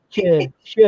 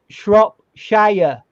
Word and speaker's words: Shropshire: It's not sure. Sure's that person who used to do singing with Sonny and Sure. Right? Not that. It's like Shropshire. Yes, because it's a long I because there's an E at the end.